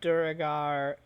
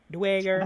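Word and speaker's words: Duergar: You would see a few, mostly gnomes, some Duragar, the odd rare Tengu, and an ant or Duragar. two. Dwager, That's Dwager, They even have it, phonetically spelled in the book.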